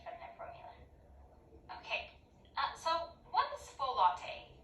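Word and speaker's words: folate: their formula so what's full latte is that like a drink pronounced ballet and it's a B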